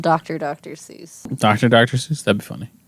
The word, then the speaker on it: Seuss: It's the German pronunciation, Seuss.